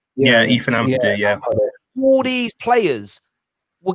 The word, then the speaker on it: Ampadu: Is it Ampadu? Am I pronouncing that right? Yeah, Ethan Ampadu, yeah.